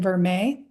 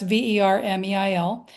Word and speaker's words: vermeil: So I also have some pieces in vermeil. So that's Vermeil, which I've always been pronouncing vermeil, but I think it is vermeil.